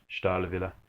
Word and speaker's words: Stahlwille: start will you review Stoli made in Germany pronounced Starla Villa by the Germans this is a quick